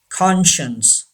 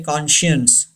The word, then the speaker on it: conscience: Conscience. Yes, don't say conscience. Wrong. Conscience. C is silent.